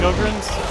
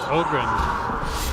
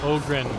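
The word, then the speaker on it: Ogryn: They're It's pronounced Ogrren. Ogrren. Oh Ogrren, my bad.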